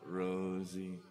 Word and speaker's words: Rosie: sure does and mine rhymes with nosy so there should be glitchy nosy what's your nosy now this is Rosie that's a secret Richie